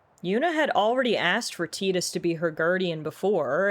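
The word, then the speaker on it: Tidus: I always thought the main character's name was pronounced Titus, and then I saw something recently where the creator said, "No, it's supposed to be pronounced Tetus."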